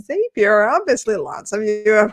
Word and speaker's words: Zapier: for anyone who's wondering so it's zapier and if you ever try to remember how to say it it's zapier makes you happier that is legit one of our company mottos makes it super easy to remember um most people do